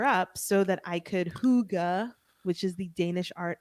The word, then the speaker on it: hygge: wanted to clear up so that i could hygga which is the danish art of cozy do you know okay no explain oh hygge is spelled h-y-g-g-e because it's a danish word and we don't